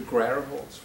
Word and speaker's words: Grauerholz: Although I think Arthur pronounces it slightly differently. I think you say Grauerholz. Grauerholz. So okay, I've heard the two pronunciations both today. Let's stick to Grauerholz, because you've heard him yourself. So from now on, we know that it's Grauerholz.